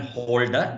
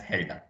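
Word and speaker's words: Hölder: from helder's inequality return holder but pronounced as Helga and all these things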